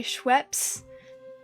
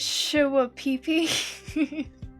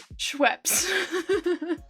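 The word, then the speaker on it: Schweppes: ginger ale brand by scheps and but they clearly had never heard it said out loud before so they didn't know how it was pronounced so instead uh they pronounced it sh peeee and there was this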